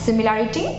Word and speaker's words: simile: স্মাইলের বানান আর সিমিলির বানান গুলিয়ে যেতে পারে, কারণ উচ্চারণ টোটালি আলাদা, সিমিলি অ্যান্ড স্মাইল, but spelling কাছাকাছি বানানটা, সেজন্য একটু বাড়তি নজর দেবেন।